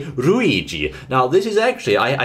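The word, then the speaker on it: ルイージ: number one number one now you'll say his name in Japanese a little differently because uh he has one of those extended pronunciation marks in the in the Katakana that's the dash you can see there between the second and fourth symbols his name is ruigi like that ruigi so what we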